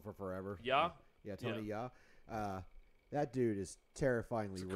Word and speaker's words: Tony Jaa: Dudes like Tony Ya or Tony Jaa is how most people say it. I found out I've been saying it wrong for forever. Ya? Yeah, Tony Ya.